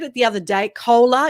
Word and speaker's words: Koehler: it the other day cola is that how you say it kohler yes but australian accent so welcome thank you